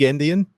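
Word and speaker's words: endian: Um, little Indian, just because that's what everything uses. Uh, and and it was just pointed out to me that this sounds like the word Indian, like as in a Native American or someone from India.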